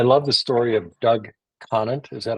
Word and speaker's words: Conant: And I love the story of Doug Conant. Is that how you pronounce it?